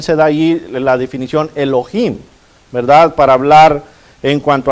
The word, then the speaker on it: Elohim: en el hebreo es Elohim Elohim si lo quiere decir con la H verdad este la H es muda pero si quiere pronunciarla Elohim Elohim viene según el